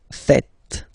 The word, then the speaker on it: faites: And it's quite funny because many French people tend to make the mistake and tend to say vous faisiez, okay? But then no. It's vous faites.